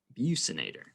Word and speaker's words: buccinator: the epicranius the orbicularis orus and the buccinator that's how that one is pronounced the epicus is actually composed of two